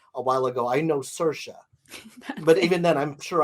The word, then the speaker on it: Saoirse: while ago, I know Saoirse. But even then, I'm sure I say that wrong. What's funny is Saoirse rhymes with inertia, right?